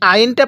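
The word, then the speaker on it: ع: হলো আইন স্মরণ রাখবেন আইনটা পড়ার সময় আমরা গলার মধ্যে হালকা চাপ দিয়ে পড়বো এই আইনটা সহি শুদ্ধ উচ্চারণ হবে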